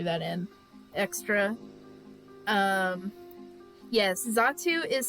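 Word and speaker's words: Xatu: in extra um yes zatsu is spelled with an X it's uh x-a-t-u but it's pronounced as if it was a z so uh very very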